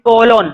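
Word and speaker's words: colon: Second कोलोन, कोलोन बोलो या इसको कोलन बोलो, एक ही बात है।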